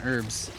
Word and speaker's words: herb: the word herb oh the H is silent it's herb no it isn't silent I don't know man I played a lot of Resident Evil don't question me on herbs herb herb man just